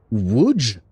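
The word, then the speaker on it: Łódź: It's pronounced wood.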